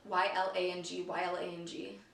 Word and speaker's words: Ylang Ylang: Lang Lang? I cannot pronounce that. I need to look up how to pronounce that. It's spelled Y-L-A-N-G, Y-L-A-N-G.